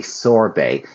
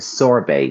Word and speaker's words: sorbet: A sorbet, yes, exactly, Aurora. Sorbet, Sorbet, but the T here is silent. It's more of a Frenchy kind of word where we pronounce it differently, a sorbet, or sorbetto in Italian.